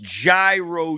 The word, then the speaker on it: gyro: __ ] is shawarma it is pronounced gyro you Savages thank you thank you